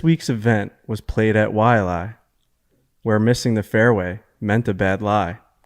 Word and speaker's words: Waialae: How do you pronounce the golf course name from this week? Wait, what? Waialae? Waialae.